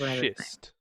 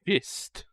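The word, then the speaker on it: Schist: ever meet my brother don't say his name wrong cuz the last person who did he did rather Club them his name is shist sorry what see everybody up here always misses that it's shist shist ah no I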